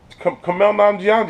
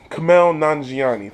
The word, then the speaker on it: Kumail Nanjiani: Kumail Nanjiani.